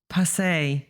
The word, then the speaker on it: Pace: And apparently it's not Pace, it's, what was it? Pace. Passe, yes. But it depends on.